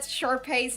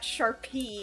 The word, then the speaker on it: Sharpay: Yeah, because I said Sharpay's name wrong. I said Sharpay's name wrong. I spelled Sharpay's name wrong in, like, Umi's stream, and she's like, no, it's not Sharpie, it's Sharpay.